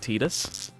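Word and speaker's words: Tidus: Um so they do pronounce it Tetus.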